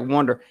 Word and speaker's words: 1dr: man I'm always around 1dr sounds like wonder it does sound like wonder hace wonder okay I'm gonna start pronouncing you wonder that's pretty cool that